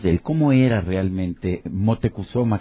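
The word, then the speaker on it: Motecuhzoma: él Cómo era realmente motecuzoma que era de hecho la la pronunciación nahat de su de su nombre de este gran tlatuani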